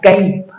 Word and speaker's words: cup: क्यों कप पढ़ रहे हैं? सी के बाद में यहां आ रहा है यू, इसलिए इसको पढ़ा जाएगा कप।